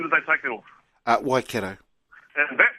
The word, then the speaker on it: Waikato: Waikato. And that right there is my put the boot in. I'm a big advocate of pronouncing our language correctly. Waikato is just on my eardrums. Keithy, Waikato, bro.